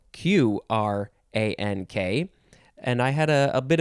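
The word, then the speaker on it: Qrank: Is it Q-rank or is it crank? I don't know if there was ever an official answer, but I'm pretty sure it's crank. It was pronounced crank.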